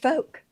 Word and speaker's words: folk: I thought it was really a beautiful universal pronounced folk. See? Pronounced folk. Like this. No L. Thank you. Is this green or? No L in folk.